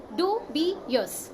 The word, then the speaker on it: dubious: word of the day pranam is pronounced as do be yours its adjective its origin